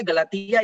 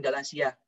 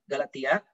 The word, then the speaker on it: Galatia: mendirikan Jemaat di Galatia bacanya Galatia ibu bapaknya bukan galaxia Galatia dan kepada Jemaat ia